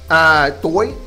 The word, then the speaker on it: tôi: So, next, you got to know tôi tên. Tôi means I, of course. Tôi, and it's pronounced like English T-O-Y. The O has a little circumflex over it, so tôi.